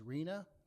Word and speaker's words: RHNA: RHNA, pronounced as RHNA, is the Regional Housing Needs Allocation.